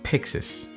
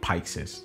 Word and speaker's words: Pyxis: The first thing that I've learned is that it is pronounced as Pyxis, like Pixar, not Pyxis, like the way I called it.